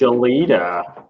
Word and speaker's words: Gelida: thing so now we pile it on it's pronounced Aleta we've been yeah it's okay I I hate